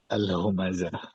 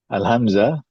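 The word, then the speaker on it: الهمزة: Jadi alhamzah itu sama dengan alhumazah dari segi penulisan tapi maknanya beda.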